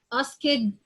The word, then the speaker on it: asked: sound, and K sound, and you add D or ED, so I say it like T, or I say it like the sound of the T sound.